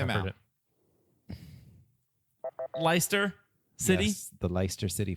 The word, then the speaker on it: Leicester: Isn't it pronounced Leicester? It might be. Leicester. Yeah, Leicester City Foxes says my pronunciation guide here.